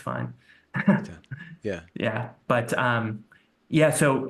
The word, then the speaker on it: Eithan: it's spelled Ethan because it's a Hebrew name, but it's pronounced in German phonetics.